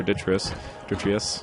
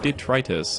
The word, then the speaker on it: detritus: and we're going to or detritus actually know I think it's detritus I've heard somebody pronounce it that way and that sounds a little bit better than the way I've been you know manhandling the word so far Let's uh pick